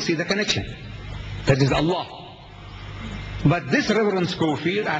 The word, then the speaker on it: Allah: right if it's a l a h is Allah you say look say Allah my language my language I want you to pronounce as I want you to pronounce you